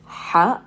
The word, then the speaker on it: ح: it is the letter ha this is its name and the sound that it makes is the h sound in the throat so this is not like the english h sound okay the sound of